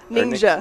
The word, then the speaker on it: Ningxia: And then you've got something, and you're going to help me with the pronunciation of this. It's is it Ningxia? Ningxia.